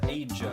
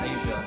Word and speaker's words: Asia: I thought it was pronounced Aja. No, it's pronounced Asia. We'll come back to Like the continent.